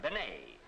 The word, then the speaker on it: Bennett: Now, sometimes they give her name the French pronunciation, Benet.